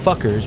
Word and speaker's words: Fokker: Chapter 2: Fokker's Breakthrough.